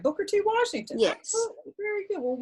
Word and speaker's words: Booker T. Washington: I don't want to pronounce it wrong. Booker T. Washington? Oh, that's correct. Booker T. Washington.